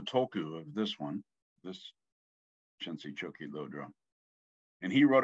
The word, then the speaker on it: Khyentse: Now, I always say Khyentse because Chagdad Rinpoche pronounced it Khyentse because he was from Kham. So that's an Eastern Tibetan accent of Khyentse. Most people say Khyentse. Or most don't, maybe. I don't know. Anyway, there's also the pronunciation Khyentse. I think that's Central Tibetan, I think, is Khyentse.